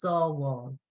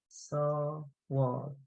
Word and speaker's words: Sábháil: And another one is Sábháil. Sábháil. SABH. A father, oh yeah. Yeah, saw. So that all sound is the A father. BH, A father. Sábháil, save.